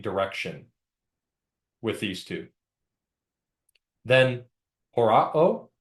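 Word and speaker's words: ὁράω: Then horao, remember that rough breathing mark to pronounce that.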